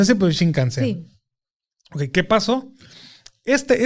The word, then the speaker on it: Shinkansen: Shinkansen. Okay. Exacto. No sé si se pronuncia así, pero Shinkansen.